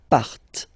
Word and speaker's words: partent: Remember, classic ending, ENT, but then you don't pronounce them, partent, partent.